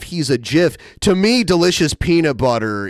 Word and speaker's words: GIF: worthless, he's not a GIF, he's a GIF. To me, delicious peanut butter is way more valuable than an animated image. I don't know. And I refuse to pronounce GIF with the J.